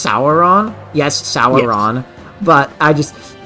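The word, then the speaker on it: Soren: missing a you I know and it's properly pronounced saon yes saon but I just you're going to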